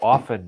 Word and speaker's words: often: pronounce things incorrectly so often now often is and there's one right there because everyone says often and it's a silent T like in soften or listen yeah but but when